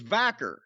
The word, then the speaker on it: Vaquer: kind of fascinating Stephany VOR if I am pronouncing her name correctly I think it's vaker well she just appeared on the aw forbidden